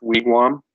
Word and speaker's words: wigwam: if you hear a wigwam it should be pronounced wigwam that's that's how we say a house it's